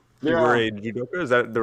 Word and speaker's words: judoka: So you were, is it judoka? You were yeah, a judoka.